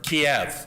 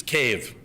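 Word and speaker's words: Kyiv: major cities being changed you sometimes hear of kiev that's russian and it's actually a political act now to mispronounce the capital of ukraine which is cave but they did that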